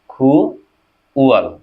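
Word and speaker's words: 구월: তাহলে খু ওয়াল, তাহলে এখানে কি হবে, উচ্চারণটি কোরিয়ান, খু ওয়াল।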